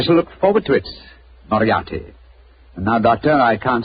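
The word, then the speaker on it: Moriarty: it or mispronounce it I'm afraid I'll have to begin calling it the way it looks m o r i a r t y mariati mariati I shall remember that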